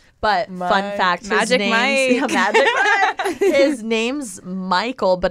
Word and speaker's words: Michel: But fun fact, his name's Michael, but it's spelled M-I-C-H-E-L, so people mispronounce it as Michelle, but it's just a family name.